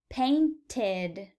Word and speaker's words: painted: ends in a T since the verb ends in a tea or a D we will pronounce IDI as ed painted painted notice how adding the ED ending makes an extra syllable we go from paint